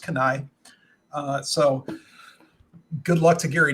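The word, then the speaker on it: Keni-H: little bit of recognition it's spelled k-e-n-i hyphen H it's pronounced canai so good luck to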